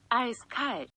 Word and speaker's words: Eiskalt: icy ice cold but his name is actually pronounced like this I sky but since the last